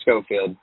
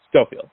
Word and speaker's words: Schofield: How do I pronounce it? Because I'm great at butchering. Yeah, Schofield. Schofield.